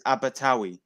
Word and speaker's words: Abertawe: Yeah, How do you pronounce that? Diolch. And Diolch. do you know Swansea? Swansea in Welsh is Abertawe.